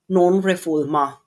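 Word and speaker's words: non-refoulement: Because of the principle of nonrefulma. Okay. But English speakers ah but English speakers pronounce it as as non reform reform reffulment.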